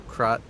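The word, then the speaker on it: Krat: wrong Kat's largest puppet I'm mispronouncing Kat it's crot if the uh I'm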